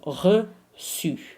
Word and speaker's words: reçu: But you need it before A, O, U, if it's to be pronounced as a se. Okay, so reçu.